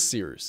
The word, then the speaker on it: Cyrus: My name is Seerus. It's spelled like Cyrus, pronounced like Sea Rooster, just take out the ter.